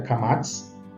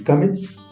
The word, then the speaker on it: kamatz: Temos uma vogal A tônica, forte, que é a kamatz, que pode se pronunciar em português kametz.